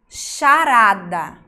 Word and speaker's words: charada: O H é mudo, mas ele junto com outra letra tem o som de X.